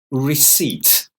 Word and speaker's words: receipt: a corridor you yeah three difficult words of pronunciation very important but the spelling difficult so the first one again receipt receipt the next one aisle aisle third one